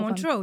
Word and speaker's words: Montreux: So I went to Interlaken and I went to Montreux. I hope I'm. Yeah, I hope I'm- Montreux.